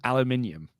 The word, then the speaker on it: aluminium: little bit different Alum how did you just say the aluminum again AL aluminium aluminium you go can I please